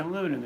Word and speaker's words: aluminum: say the word well in America you say aluminum England you say aluminium so it's not so